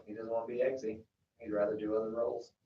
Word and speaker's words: Eggsy: That's how you pronounce his name, right? Eggsy, yeah.